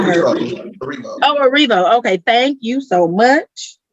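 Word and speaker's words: Erivo: here we go grammy awards 20 21 cynthia ervio and dozia cat what do you judging these look so let's start with cynthia er ervio i don't know if i'm pronouncing it oh revo okay thank you so much and she's wearing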